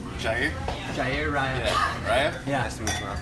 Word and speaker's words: Jair: It's it's spelled Jair.